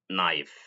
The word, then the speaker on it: knife: It can also be written as k n, but the k is silent and together they make the sound na as in knee, knock, knife.